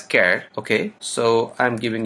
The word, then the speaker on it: char: declare variable using care someone pronounce as Char I pronounce it as care okay okay so I'm